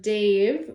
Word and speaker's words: Dev: The word Dave rhymes with the word save. The ah in Dave ah is chanted with the mouth open and the sound vibrating from an open throat.